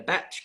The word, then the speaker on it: bach: yes, And you can stay there in a batch. How do you pronounce it?